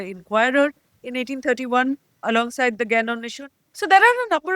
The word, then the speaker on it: Gyan Anveshan: In fact, the first newspaper they set up was called the Gyan Anveshan, Gyan Anneshon, pronounced in Bengali, which they set up in 1831.